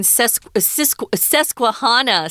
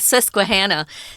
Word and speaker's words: Susquehanna: susquehanna river system well i was uh raising sesquihana susquehanna um i am not from pennsylvania but uh